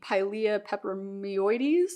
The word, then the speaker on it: Pilea peperomioides: And there is something about this that kind of reminds me a little bit of the Pilea peperomioides, I believe is how it's pronounced.